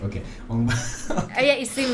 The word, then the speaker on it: Ong Bak: Because it's written O-N-G. Yeah. So we pronounce it Ong Bak. Okay. Ong Bak.